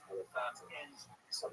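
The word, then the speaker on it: Elephantine: You know, It's supposed to be pronounced Elephantina.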